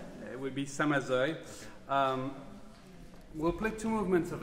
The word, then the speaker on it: Samazeuilh: The next piece is by a composer whose name neither of my colleagues can pronounce. So I'll turn to David. Samazeuilh. It would be Samazeuilh.